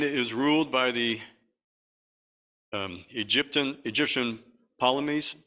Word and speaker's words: Ptolemies: Now the reign is ruled by the Egyptian Ptolemies, I guess you would have you pronounce it Ptolemies, got a PT in there.